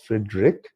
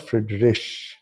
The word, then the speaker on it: Friedrich: And people also produce many times I have seen Friedrich, people call it, but this is also not pronounced as Friedrich. It is called Friedrich.